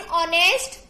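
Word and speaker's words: honest: एन ऑनेस्ट person. Okay. हमें H silent है यहाँ पे तो क्या बोलते हैं? ऑनेस्ट.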